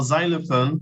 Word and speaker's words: xylophone: is no no it's it's the X is not silent the x is giving us Z Sounds do you understand yeah